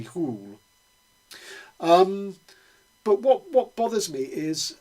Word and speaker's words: Hole: character is called Harry Hole. I don't think it's pronounced like that in Norwegian. It's probably something like Harry Hole.